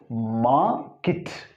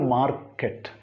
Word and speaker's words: market: So here you can see R and here you can see E, but pronunciation is market, not market. That is the usual pronunciation in India, market. But it is market.